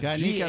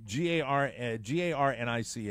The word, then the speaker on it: Garnica: Garnica was, am I pronouncing that right, Oscar? Garnica, that works. G-A-R-N-I-C-A.